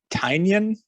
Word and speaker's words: Tynion: I think the first 2 volumes are on Unlimited by James Tynion. I'm going to say it like that, like onion.